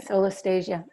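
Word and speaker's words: solastalgia: So you talk a bit about, and correct me if I'm not saying it right, solastasia. How would you pronounce that word? Yeah, solastasia.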